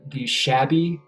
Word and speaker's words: Chaabi: There's a rhythm in Morocco called the shabi, which is spelled Chaabi, and it's a really fucked up rhythm.